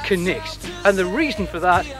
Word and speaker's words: Cnicht: is actually quite simple it comes from the old english word night and that was before the letter k was dropped in the pronunciation because it used to be canite and now it's connex and the reason for